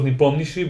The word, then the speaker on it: Nepomniachtchi: Nep, I already told you how Nep- to pronounce it. I shouldn't have. Niptomnishi? I should have let you try. Nepomniachtchi.